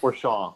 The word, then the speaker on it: Fourchon: Fourchon, yeah. It's yes. like So Fourchon. Yeah, don't even say the end. Port Fourchon to the mouth of